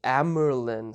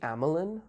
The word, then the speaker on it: Amyrlin: It's the Amyrlin seat. I called it the Amelin without the R, but I guess there's an R there. Maybe the R is silent.